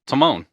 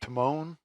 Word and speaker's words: Timon: Turtles Alvin versus timman Timone Timone from The Lion King the mircat what is it a silent e or something Timone that's a t i m o n oh Timone from Lion